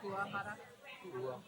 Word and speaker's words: Kuwahara: Kuwahara. Yeah, you pronounce every syllable.